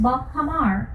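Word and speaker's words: bajamar: The word Bahamas came about from the Spanish. It is pronounced Bahamar, but in English, we would say Bahamas, which means multiple islands in shallow seas.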